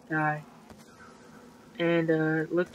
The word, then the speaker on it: Die: di yeah is uh it's not pronounced like the German so it's die and uh looks like